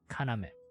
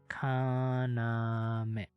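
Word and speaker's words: かなめ: The kun readings of it are iru and kaname. Kaname.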